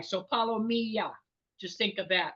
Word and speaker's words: palomilla: good at pronunciation it's palomia think of tortilla LL is y so see you just learned something else an ll in Spanish is always y so palomia just think of that